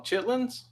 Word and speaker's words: chitterlings: see anything that says chitterlings we we don't pronounce the erling z' we just call them chitlins chitlins yeah don't get